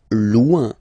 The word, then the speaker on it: loin: Loin. Loin. So remember when you get this combination O-I-N, it's ouin, ouin, ouin, okay? Loin. Alright?